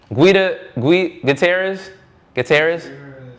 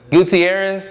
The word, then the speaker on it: Gutierrez: How do we pronounce this? Bryce Gua Gutierrez. Guutierrez.